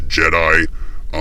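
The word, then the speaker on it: Gedye: I believe it's Grace Jedi, G-E-D-Y-E. If not Jedi, it should be pronounced that way.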